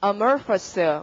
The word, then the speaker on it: amorphous: 발음은 amorphous.